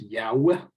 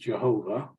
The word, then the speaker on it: Yahweh: by tradition is um some Modern Scholars think it's pronounced Yahweh um it's certainly not pronounced Jehovah which was taking the uh the vowels of one name and interposing it on the vowels of another but um however you pronounce